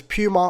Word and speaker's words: Puma: only makes sense because Puma also rhymes with loser so if you wear